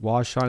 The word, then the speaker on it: Washaun: That's not Washaun? I always heard preferred pronounced Washaun. He goes by Washaun.